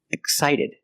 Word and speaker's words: excited: And when the X is before a consonant, most of the time it's pronounced x x with no voice. Excited, excited, x x, no voice.